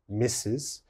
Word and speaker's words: Mrs: the first one mrs mrs is pronounced mrs misses and missus is used only